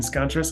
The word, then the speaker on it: Scontras: Today, we are joined by Scontras. did I say it right? Is it? You did, yeah, very good.